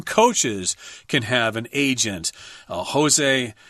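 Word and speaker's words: José: Jose, it's Jose, I think, because he's Portuguese. So I think that's how you pronounce it.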